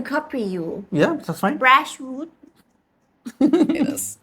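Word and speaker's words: Bratwurst: Brashwood. It is. Most Americans say broadwurst or sometimes it's also shortened to just brat. But it's a V. In German, we say brat.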